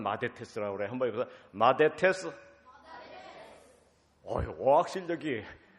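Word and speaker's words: μαθητής: 성경의 제자라는 말을 헬라어로 마데테스라고 합니다. 우리 유초동 어린이도 한번 따라해 보세요. 얼마나 잘하나 봐야 돼요. 그리스 말인데 제자라는 말은 마데테스라고 그래요.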